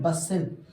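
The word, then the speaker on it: bustle: बसिल। बसिल। T silent है, ठीक है, बसिल।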